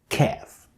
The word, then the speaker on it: ك: Now I want you to observe the position of my tongue pronouncing the qa and ka.